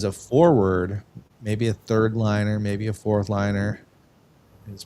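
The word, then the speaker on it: Laine: players available as a forward, maybe a third liner, maybe a fourth liner, is Patrick Lane. Laney, how do you say his name?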